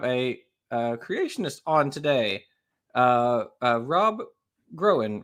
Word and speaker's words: Groen: And then we have a creationist on today, Rob Groen, right? Did I pronounce it? Yes, that's correct. Cool. Well, welcome to the show. That's not correct, Jackson. It's groen.